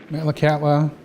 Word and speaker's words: Metlakatla: resource that seemed abundant malacata is the anglicized pronunciation of a simsian word which means salt water channel where the wind dies